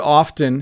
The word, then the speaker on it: often: get the last question does the word often have a silent t when you say often really quickly so i often say it really quickly the t becomes very very silent and you hardly hear it anyways thanks for being